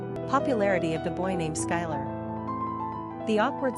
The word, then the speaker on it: Schuyler: Pronunciation, Skylar.